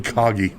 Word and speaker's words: Coggy: The cage... Coggy, as they called him, I guess. Coggy? That's how someone pronounced his name. His cage with a K.